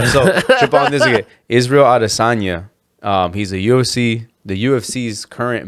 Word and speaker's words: Israel Adesanya: The way his real name, how you pronounce it, is Israel Adesanya.